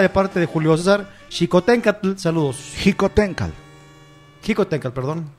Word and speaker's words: Xicoténcatl: Esas chingaderas, como ahorita, Xicoténcatl. Es Xicoténcatl. O sea, la TL es muda.